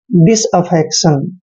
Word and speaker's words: disaffection: डी का उच्चारण डे करते हैं और आई को ई की मात्रा पढ़ते हैं। एस को हमने से पढ़ना है यानी कि डिस। अब यहाँ पे देखिए, ए को हमने ए पढ़ना है, डबल एफ का उच्चारण फे करते हैं, ई को फिर से ए की मात्रा पढ़ते हैं। सी का उच्चारण यहाँ पर कै करना है और TION को शन पढ़ना है यानी कि अफेक्शन, डिसअफेक्शन।